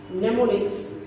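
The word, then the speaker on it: mnemonics: देखिए नेमोनिक्स में am silent रहता है, नेमोनिक्स।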